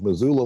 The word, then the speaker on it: Missoula: 2 S's, but pronounced like a Z. No, I think it is a Z. Missoula, Montana.